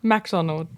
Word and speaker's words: MacDonald: everyone's like, they forget the A and they say MC, but it's MAC. Oh, I see. Mick instead of Mac.